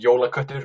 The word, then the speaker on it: jólaköttur: correct pronunciation. It would be jólaköttur or julekat.